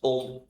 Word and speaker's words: Om: There are 3 syllables in there: A, U, and Ma. Akara, Ukara, and Makara. A plus U becomes O, and then you add Makara, it becomes Om.